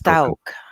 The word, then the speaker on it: Stauch: Gannon Stauch. Is that how you say it? I want to make sure that we pronounce his name correctly. I believe it's Stauch.